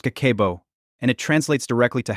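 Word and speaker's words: 家計簿: It's called Kakeibo, pronounced Kakeibo, and it translates directly to household financial ledger.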